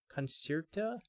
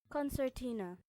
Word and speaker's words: concertina: and con coner Concerta how do you pronounce that free read instrument okay it's um similar to an accordion it's just a smaller version of an accordion I guess right uh is yours a 20 Bo a 20 a 20 button conert concert pronunciation pronunciation okay let's hear it concertina oh concertina I was missing a whole syllable in there is your concertina I